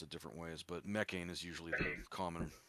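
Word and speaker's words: Mekhane: Greece and basically they worship a being called mechan or mechan depends on the you know pronunciation people pronounce it different ways but mechain is usually the common pronunciation um and it's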